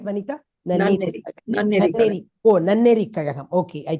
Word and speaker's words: Nanneri: Am I pronouncing it right, Vanita? Nanneri.